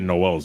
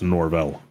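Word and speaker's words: Norvell: his name wrong who you said Noel's it's norell norell yeah I don't know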